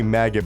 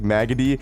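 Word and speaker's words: Maggette: like that I think I always say maggot but I think it's like maggoty is how you pronounce his name he's actually not that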